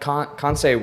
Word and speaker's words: Kansei: I feel like that Kansei would be able to.